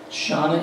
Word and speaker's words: Shannah: So Shannah is said like a person's name, like a girl's name, Shannah.